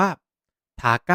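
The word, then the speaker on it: 高い: แบบ นี้ นะ ครับ คำ ว่า สูง ภาษา ญี่ปุ่น ออก เสียง ว่า ทา ใก้ พูด ตาม พูด ตาม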